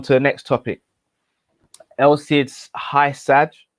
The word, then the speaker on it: Hysaj: the next topic elsie's high sad i believe that's how you pronounce his name or hajj um the napoli fullback